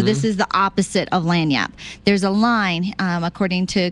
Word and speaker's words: lagniappe: I I misspelled it uh looking looking for lanyap in uh it is here's how it's spelled it's a it's not it doesn't it's leg nappy l-a-g yeah n-i-a-p-p-e right l-a-g-n-i-a-p-p-e but it's an